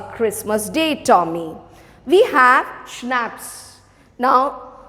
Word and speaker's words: schnapps: day tommy we have schnapps now this word is pronounced as schnapps i've mentioned this before also c is silent here so how you pronounce